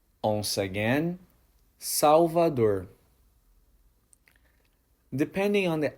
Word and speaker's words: Salvador: The correct pronunciation is Salvador. Once again, Salvador.